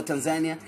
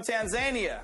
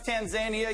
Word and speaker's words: Tanzania: from boy is from Tanzania Tanzania if you think it's perhaps Tanzania you're a fool and I feel sorry for you I would never pronounce it that way don't go back and